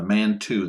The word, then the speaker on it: Mantoux: t4s have been have been off now the man two that's spelled m-a-n-t-o-u-x uh it's also called ppd for